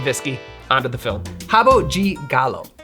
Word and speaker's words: Rabo de Galo: Rabo de Galo. Rabo de Galo.